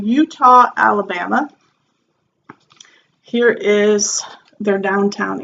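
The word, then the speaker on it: Eutaw: in Utah Alabama and I'm calling it Utah because Wikipedia had the pronunciation and it was you pronounced to look like Utah at spell eut aw so anyway what is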